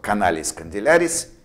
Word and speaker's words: canalis condylaris: So canalis condylaris parallelly to the condylus.